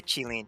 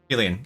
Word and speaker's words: Qilin: I would probably just say Qilin. Yeah. Qilin. Okay. Because I'm too scared to try to say it with like the actual Chinese tones. Qilin.